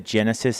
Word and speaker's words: GENASYS: One of the big ones is always about evacuations, and so we want to really encourage folks to download the Genesis app. It's spelled GENASYS.